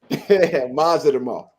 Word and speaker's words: Madrimov: What's the best pronunciation for this guy's name? Israil Madrimov. Madrimov.